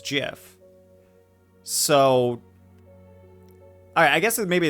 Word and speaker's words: GIF: naturally pronounce it as gif but the official original pronunciation was jiff so i i guess